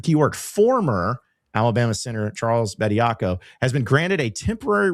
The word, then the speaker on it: Bediako: Bediako.